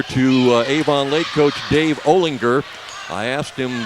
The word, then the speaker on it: Olinger: Avon Lake Coach Dave Olinger I asked him how do you pronounce that last name is it Olen Jer he said no it's Olinger like in gou and that's what I tell